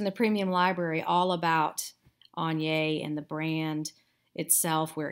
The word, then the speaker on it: Agner: jute wedge and yes that is how you pronounce it on yay some people pronounce it agner and that is unfortunately incorrect i have a course in the premium library all about anya and the brand itself where it came from